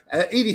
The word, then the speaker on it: Edie: her in yeah now edie hello how's it going hi guys welcome hello fellow haters is is that is that have i pronounced your name right is it edie uh yeah it is right yeah okay what time